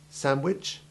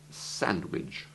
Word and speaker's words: sandwich: Listen again to the two pronunciations. Sandwich, Sandwich.